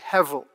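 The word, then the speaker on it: הבל: translate the hebrew word hevel now confusingly that's written in english as you'll see on the sheets as if it has a b in the middle but you pronounce it with a v hevel and this word hevel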